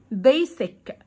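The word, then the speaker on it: basic: طيب يعني ايه اساس بيسك بيسك خلي بالك الاس هنا بتنطقها استعاده بايسك اساس والسي هنا كونتها بصوت حرف الكيه مسطح او مستوي معناها فلات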